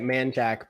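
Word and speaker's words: Manchaca: this to uh manchak people that aren't from around here i don't know why you say it man jack but that's how you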